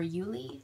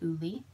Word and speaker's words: Uli: Creations by ulie or Uli you can uh correct me if I'm saying your name wrong I want to say ulie but it's Uli um and we had